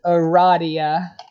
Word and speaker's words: Aradia: looking forward to it it is pronounced Aradia good thing I've always pronounced it that way anyway uh that's it for